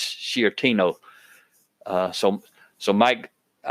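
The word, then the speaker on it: Sciortino: Michael F shortino Senor I'll spell his last name and hopefully I'm saying it right but it's s c i o r t i n o s c i o r t i n o and I think it's shtino uh so so Mike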